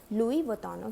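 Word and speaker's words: Louis Vuitton: unique quality लुई विटॉन उसकी spelling अलग है बट आपको बोलना है लुइ विट्टों के पॉइंट्स आप आए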